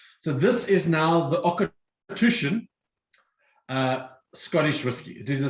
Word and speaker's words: Auchentoshan: That is the Auchentoshan. It's spelt nowhere like it sounds, but this is now a single malt from Glasgow.